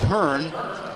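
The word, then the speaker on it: Hohn: committed by David Byrne pronounces it Hearn but he spells it h o h n6 to the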